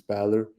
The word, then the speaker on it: Bähler: so first again about me I'm the pronunciation was correct like it's Balor I'm 23 years old I'm something like a